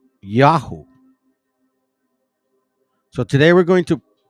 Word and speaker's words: IAUH: I A U. The Y in this case is kind of backwards. Or you'll hear me say Yahoo.